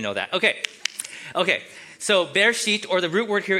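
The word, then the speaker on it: בראשית: the word Genesis in Hebrew it's the word be sheet because back then they used the first word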